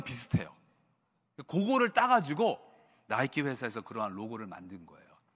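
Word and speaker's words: Nike: 근데 이 니골라 당이라는 그 단어를 보면 그 단어 안에는 그 그리스 신화에 나오는 승리의 여신 니케, 영어로는 발음이 나이키죠.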